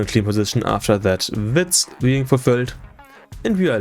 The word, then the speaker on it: Witz: Context, Witz in German spelled W-I-T-Z or Z means joke, so yeah, it's pronounced Witz as well.